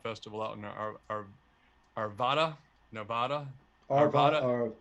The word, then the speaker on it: Arvada: Arvada. Arvada, yeah, It's the same thing as Nevada, Arvada. right. Yeah, that's what they told me how to say it. Say it like it's Nevada.